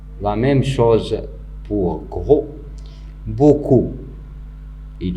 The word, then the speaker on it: beaucoup: Beaucoup. Il y a des élèves qui peuvent dire beaucoup, mais c'est faux. On ne doit pas prononcer le P parce que c'est une lettre muette.